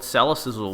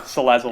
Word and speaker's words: Salazzle: You've just got to read it and you can see the correct pronunciation. It's just what got so much sizzle. I chucked a sizzle in there.